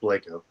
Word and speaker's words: Blacko: It's actually pronounced Blako as well.